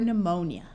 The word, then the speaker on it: pneumonia: beginning of a word if you have p s p n or PT the p is silent like in the word Psalm pneumatic pterodactyl psyche or pneumonia P and H together